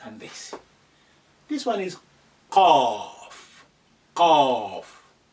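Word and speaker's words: ق: top of it, and that's a cough, like in the coffee, coming back from the when you say it like a mouth slightly open, cough.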